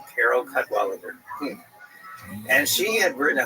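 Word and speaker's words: Cadwalladr: So, there's a very good reporter there named Carol Kadwaler. The last syllable is kind of because it's there's no vowel. It ends with Dr. R. Carol Cudwaler and she had written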